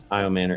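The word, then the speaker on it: Ayomanor: Um, Eric uh, Aya Manor. I'm not sure if I'm pronouncing that right. Manor. Yeah. Ay Manor. Yeah.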